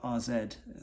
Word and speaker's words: AZ: was leading the line for for rzed as it's supposed to be pronounced so that kind of